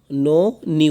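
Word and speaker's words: known: নিউ নো নিউ, এই কের উচ্চারণটা এখানে হবে না, কের উচ্চারণটা এখানে স্কিপ করতে হবে।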